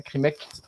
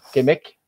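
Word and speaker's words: qimmeq: Krimek, comme ils disent, ils appellent ça Krimek, Kemek. Il y a plusieurs façons de le prononcer.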